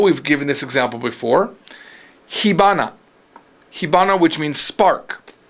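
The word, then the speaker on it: 火花: Hana, though, is how you say flower. But when you combine it, it becomes hibana.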